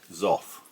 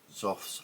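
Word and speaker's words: Xoth: Now I believe it's pronounced Zof. It's spelled X O T H.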